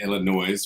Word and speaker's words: Illinois: just heard you say Illinois which is what I said who is the who in the hell came up with silent letters that thing in that word that that's just stupid